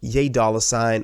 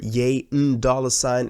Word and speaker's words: ¥$: of corrected me because that would be the perfect way to pronounce this new album because of yay and the N from Yen and then dollar sign but it also means